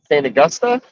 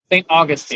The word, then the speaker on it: St. Augustine: Is it Saint Augusta or Saint Augustine? St. Augustine. Saint Augustine. St. Augustine. I've said it wrong.